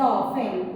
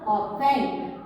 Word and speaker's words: often: While we are writing the often, we have to write O-F-T-E-N. But while we are pronouncing, we have to pronounce often. T should be silent.